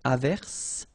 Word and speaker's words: averse: j, same thing here, averse, okay, S is pronounced, the E is not pronounced.